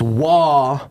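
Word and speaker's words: Roy: I thought when Patrick Waugh, it's Waugh. Patrick Waugh. It's Waugh.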